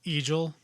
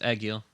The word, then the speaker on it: Egil: thinking it was pronounced it's like eagel no it's agile sure i mean it's it's british pronunciation or european pronunciation i'm not really sure